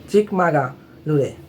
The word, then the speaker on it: চিকমাগালুরে: তো উচ্চারণটা হবে চিকমাগালুরে।